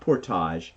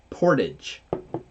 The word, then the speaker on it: Portage: will tell you know it's not Portage it's Portage Portage see from us in